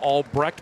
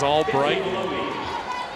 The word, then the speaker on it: Albrecht: those of you wondering a year ago it was annika albrecht because annika albright was too polite to correct anyone and we're like the pronunciation came out like what is this right and she says so we went a year calling her about an incorrect albrecht so it is all bright kelly bates though now